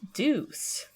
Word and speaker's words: DEUX: scores of future artists Deuce is pronounced like the English word Deuce d c but is